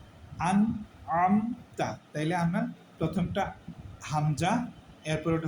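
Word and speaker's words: أَنْعَمْتَ: তারপর হচ্ছে আম তা আন আমতা তাইলে আমরা প্রথমটা হামজা এরপরেরটা হচ্ছে আইন আমার এই দুইটা উচ্চারণ ক্লিয়ার করতে হবে আন আমতা আমি আন আমতা বললে এটা ভুল বলতে হবে আন আন আন আমতা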